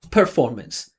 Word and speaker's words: performance: So again, he's putting way too much attention on the unstressed part per per I say per he says performance. I said performance, right? You have to make that super obvious separation between the stressed and unstressed part.